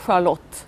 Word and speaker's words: Charlotte: Well, I mean, there is a Charlotte, it's pronounced differently in Sweden. Okay. It's called Charlotte.